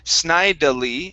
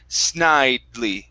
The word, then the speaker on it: snidely: word one more time so the e here at the end we we will not uh um uh sound that out so instead of snidely it's snidely snidely snidely good one more